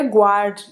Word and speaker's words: guard: Agora, guard, no português, ficaria guard, guarda, né? Então ficaria guard mesmo. Mas ele continua seguindo a regra. Então aqui é guard, guard, guard.